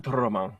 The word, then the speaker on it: Ultraman: or Ultraman, Ultraman. as properly pronounced.